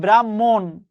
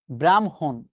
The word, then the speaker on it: ব্রাহ্মণ: পরীক্ষায় প্রশ্ন এসেছে, ব্রাহ্মণবাড়িয়ায় বসবাস করে ভদ্রলোক, অথচ ব্রাহ্মণ শব্দের উচ্চারণ কিন্তু এটা ব্রাহ্মণ। আপনি বলবেন ব্রাহ্মণ, হবে আপনার উত্তর, তবে 100% ভুল হবে। আমাদের তো হয় উত্তর, হয় ঠিক না হয় বেঠিক, তাই না? আমরা ভুল করে আসব। বাস্তবে উচ্চারণটা হচ্ছে ব্রাহ্মণ, নট ব্রাহ্মণ। ব্রহ্ম, আপনি উচ্চারণ করেন ব্রহ্ম,